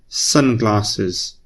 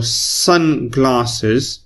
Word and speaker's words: sunglasses: words and two nouns it's pronounced as if like it was one word so sunglasses we don't pronounce it